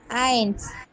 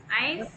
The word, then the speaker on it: eins: eins. ஐன்ஸ். zwei. eins.